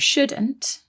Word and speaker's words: should: one more thing about shouldn't and should is that they contain another silent letter don't they there is a silent l in there s h o u l d should that's right we've got